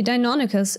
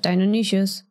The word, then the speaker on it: Deinonychus: For example, I recently learned that it's supposed to be Deinonychus instead of Deinonychus.